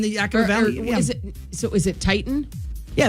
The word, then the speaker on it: Teton: It's Tieton, but it's like but then you got the Teton Mountains in Idaho. I know. Which Woody at one time, said Teton, and they're like, no, it's Titan.